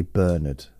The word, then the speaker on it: Bernard: it out Berard Hopkins we say burnard in this country but because I'm both